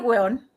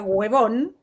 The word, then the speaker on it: huevón: Porque primero, si te dicen, ¿cómo está el hueón? Y tú sabes que el huevón, que nunca se pronuncia huevón, se pronuncia hueón, es un insulto, es